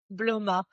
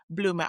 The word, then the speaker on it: Bloma: How do you pronounce it? Bloma. Bloma.